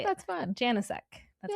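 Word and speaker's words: Janicek: Janasek.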